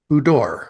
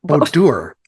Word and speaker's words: boudoir: believe if I recall correctly I believe she pronounces it budor or something to that effect B bodor bodour There we go bodour bodor bodor see I